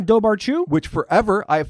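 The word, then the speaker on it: dobhar-chú: The And I'm going to get this right for the first time ever, Daru. Do Oh, it's Dobaru. which forever I have phonetically pronounced just like you like I think I did it just last week.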